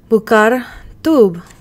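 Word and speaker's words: בוקר טוב: Bokertov, or as we just found out that it's actually pronounced, Bukar Tub.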